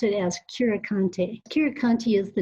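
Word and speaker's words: Curecanti: say we often hear folks say everything from curikin clara or or cure candy or you know just just people won't even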